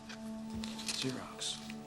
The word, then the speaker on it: Xerox: starts with an ACC um It's Greek it's pronounced Xerox zerox so we can start with the signature card